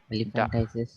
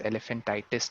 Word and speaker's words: elephantiasis: Elephantiasis. हाँ, elephantitis. तो Elephantiasis. elephantitis नहीं, हाँ, elephantiasis.